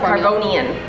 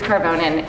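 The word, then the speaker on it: Karvonen: on the screen carbon I call it caronian cuz that's how it's spelled no there's no I in it there's it's like a e a n it's carbonin as I just spelled it okay all right so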